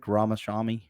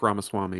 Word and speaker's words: Ramaswamy: you can say his name I can't Vivek ramashami Vivek ramaswamy yeah yeah it's something you didn't make fun